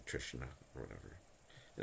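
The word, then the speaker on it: तृष्णा: I think it's pronounced Trishna or something. Trishna. I think there's like a little bit of a nasal nya in there.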